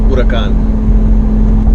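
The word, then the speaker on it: Huracán: So let me pronounce that right. That's how you say it, Huracan.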